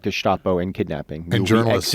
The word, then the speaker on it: Gestapo: law enforcement names like Gestapo. By the way, very Germanically pronounced.